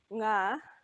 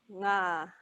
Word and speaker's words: ngā: So for the ngā, your tongue should be right at the back, going up, touching the back of your mouth. Whereas with a na without the G, it's the front of your mouth that your tongue touches. So na, ngā.